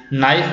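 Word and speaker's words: knife: Silent letter इन नाइफ, नाइफ में हम ये तो पढ़ रहे हैं ना, या फिर नाइफ बोल रहे हैं कि के का नाम कहीं नहीं आता है, तो के क्या हो जाता है, हमारा साइलेंट वर्ड हो जाता है।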